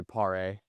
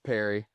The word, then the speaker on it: Pare: I'd probably say Pare. Pare. Yes. You're not French? It's Perry.